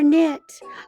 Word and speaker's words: knit: This starts with the two-letter combo for knit. Uh-huh. This one is silent.